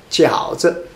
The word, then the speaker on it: 饺子: form a 词 here, so there's a no tone or light tone, 饺子, it's not it's just 子, 饺子, make it a light.